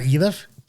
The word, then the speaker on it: Iliff: It's not Eliff? Actually, according to some GPS services, it is pronounced that way. So choose the right, I always learned it was Iliff, but as did I.